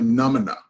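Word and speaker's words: Nʉmʉnʉʉ: Again, I wanted to reinforce the Comanche, we are the Numina. That is how you say Comanche in our language, Numina.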